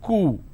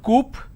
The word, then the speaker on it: coup: C-O-U-P is coup. It's not coop or coup, it's coup.